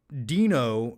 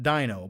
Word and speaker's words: Dino: My name is pronounced Dino, not Dino.